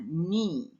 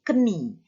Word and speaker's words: knee: Knee, ya, tulisannya K-N-E-E, ya, knee. Knee, K-N-E-E, tapi dibacanya knee, bukan keni. Itu silent K, namanya knee.